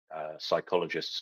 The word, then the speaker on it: psychologists: this is why you can't hear psychologists go to the toilet because the p is silent God that's kind of